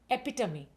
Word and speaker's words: epitome: Next, एपिटमी। इज इट एपिटमी और एपिटोम? No, this is एपिटम।